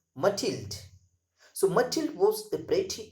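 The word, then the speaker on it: Mathilde: story the necklace matild the pronunciation of m-a-t-h-i-l-d-e that is matilda so matild was a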